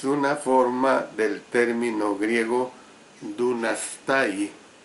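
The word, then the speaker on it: δύνασθαι: La palabra que se traduce por puede en Filipenses 3:21 es una forma del término griego dunastai, al final la sílaba tai va con H intercalada, dunastai, del cual obtenemos la palabra dinamita, que es precisamente un poderoso explosivo.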